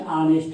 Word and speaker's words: honest: Whenever we write, he is an honest man. Actually, H is consonant, but its pronunciation is A, like so, honest.